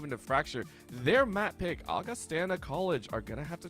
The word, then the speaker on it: Augustana: league you know I'm very glad you said Augustana because I honestly forgot we were told by uh Carol during the break our Observer and an amazing staff member here at NECC that it is pronounced Augustana not Augustana apologies for that for anybody who